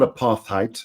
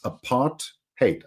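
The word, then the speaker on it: apartheid: was by the way it's not aath height it's aart hate aart hate aart aart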